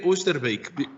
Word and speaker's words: Oosterbeek: Et donc, c'est un grand honneur d'avoir ici aujourd'hui Oosterbeek. Je pense que je ne sais pas très bien prononcer. C'est en effet Oosterbeek, parce que je suis né hollandais.